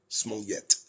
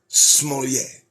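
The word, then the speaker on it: Smollett: that again Jesse smolier I'm pronouncing it correctly it's not Jesse small yet no his name is Jessie smollier it's okay we can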